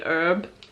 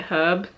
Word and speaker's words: herb: Americans say herb, so I'm gonna go herb, but we say it herb.